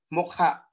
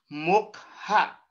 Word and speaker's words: mukha: Hindi ko po binibigkas ng mukha. Ang sabi ko po ay mukha. Mukha. Kung napapansin niyo po, ang salitang mukha ay mabilis bigkasin at the same time, meron po itong impit na tunog. So kung ito po ay mabilis at may impit, tama po. Ito po ay maragsa.